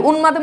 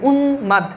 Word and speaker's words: উন্মাদ: আরে দেখো উন্মাদ তাহলে উন্মাদে ফালা কার সাথে যুক্ত হইছে বলো এই যে দন্তনের সাথে যুক্ত হইছে ওকে সো দেখো দন্তনের সাথে যুক্ত হইছে এজন্য দেখো এখানে এই যে মফালার উচ্চারণ থেকে গেছে উন্মাদ এখন এখানে তুমি খেয়াল